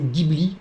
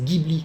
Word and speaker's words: Ghibli: voisin totoro pour l'anecdote en français on dit studio ghibli et en japonais on dj bly alors les l'orthographe la prononciation japonaise c'est sûr et certain c'est djibi en français on peut